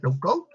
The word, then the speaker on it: low code: Normalmente se pronuncia sin la E final, low code, que es dar instrucciones de forma gráfica.